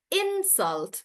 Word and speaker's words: insult: When you say the first one as a noun, so then I'm pronouncing it as insult. So I'm stressing on in and I say that's an insult.